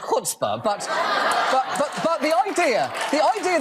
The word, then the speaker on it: chutzpah: them leave oh ok ok first of all shut spa it's actually pronounced good spa but the idea the idea that game is